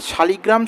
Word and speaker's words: শালগ্রাম: আজকের আলোচনার বিষয় হবে যে নারায়ণ শিলা যেটাকে আমরা শালিগ্রাম শিলা বা শালগ্রাম শিলা বলে থাকি। দুটোই ঠিক উচ্চারণ।